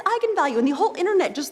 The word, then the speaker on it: eigenvalue: the directors that yes that is how you pronounce it so I went out there and said that's right egon value and then apparently the internet went nuts when